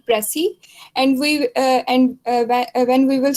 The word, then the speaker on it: précis: When we spell like PRECIS, it is called Pressy, and when we will spell PRECISE, then it is pronounced precise.